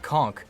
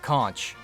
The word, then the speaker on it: conch: find soldiers using the conqueror and yes it's pronounced conch not conch spongebob lied to you the pun in the